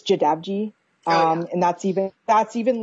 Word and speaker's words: Jadavji: I kind of have to be because my last name is really hard to pronounce. It's Jadavji. And that's even like the English version. It's like pronounced Jadavji.